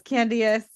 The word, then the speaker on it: Candiace: At first, I thought you were talking about Candy Burris and just not pronouncing her name right. Yes, Candiace.